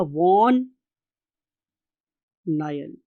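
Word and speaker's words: van Niel: अब इसके लिए एक साइंटिस्ट था स्टूडेंट्स, उसका नाम था वॉन नायल। आप इसे नील भी बोल सकते हैं, what ever you want to pronounce, no problem at ऑल।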